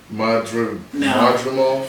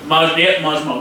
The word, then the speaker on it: Madrimov: I can't probably pronounce it anyway. Oh, next fight, Israel. Yeah, that's him. Israel. What's his last name? Madrimov. Yep, Madrimov.